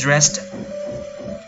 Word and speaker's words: dressed: I need to get dressed. Trong trường hợp này thì người ta dùng là get dressed. Cái đuôi ed ở đây các bạn đọc là tờ nhé.